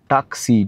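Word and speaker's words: taksi: হচ্ছে এখানকার local cab আমরা যেমন বলি ট্যাক্সি এরা বলে টাক্সি টি এ কে এস আই এটার উচ্চারণ লেখা থাকে আর এটা হচ্ছে ব্লু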